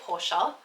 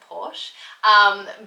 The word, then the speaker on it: Porsche: I should actually say Porsche because that's how you pronounce it, but I've always said Porsche.